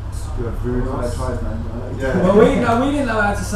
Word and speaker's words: Sclavunos: New album, Burning Your House Down, produced by Jim Sclavunos, pronounced Sclavunos.